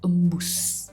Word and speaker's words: embus: Karena yang baku adalah embus.